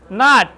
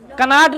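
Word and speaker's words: knot: देखो नॉट कनॉट नहीं। नॉट नॉट माने होता है गांठ। यहां पर के साइलेंट है।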